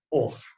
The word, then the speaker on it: hoja: Mas como a letra H não tem som em início de palavra, a gente pronuncia hoja, correto?